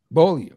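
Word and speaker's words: Beaulieu: Bolio. Is that how you say it?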